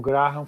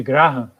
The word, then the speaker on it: Graham: Eu chamo de Graham, porque grande parte das pessoas chama de Graham, mas algumas pessoas chamam corretamente de Graham. De fato, a pronúncia correta é Graham.